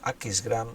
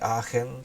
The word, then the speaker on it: Aachen: Mañana es un culto especial porque tenemos la visita de los hermanos de Aquisgrán o de Aachen, se puede pronunciar de las dos maneras, esta ciudad alemana